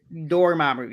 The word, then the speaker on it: Dormammu: Dormammu, yes.